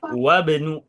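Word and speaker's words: وابن: Untuk kata ismun, kata ibnun, kalau di awal dibacanya kasroh, kalau di tengah kalimat dilebur. Anggap nggak ada huruf hamzah wasalnya itu. Jadi bacanya wabnu gitu ya.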